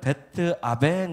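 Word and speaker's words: 벧아웬: 숙한 곳인데요 그 다음에는 원래 발음은 베트 아 벤 이라는 발음을 습니다 여기서 아베는 재난 소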